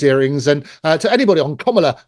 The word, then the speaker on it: Kamala: And to anybody on Kamala, that's how you pronounce her name, Kamala Harris's party, come forward and confess if that's the truth.